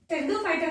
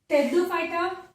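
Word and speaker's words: Pteridophyta: टेरिडोफाइटा के अंदर P silent होता है, that's why टेरिडोफाइटा, टेरोप्सिडा, P silent होता है।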